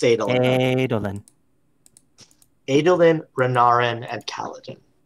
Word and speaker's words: Adolin: Is that how you Is it pronounce Adolin? It's Adolin.